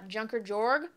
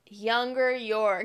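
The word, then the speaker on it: Junker Jörg: how that's said okay I said it totally wrong it's younger York I think that's how to say it anyway it's German and so the the Jay's a little weird but anyway he went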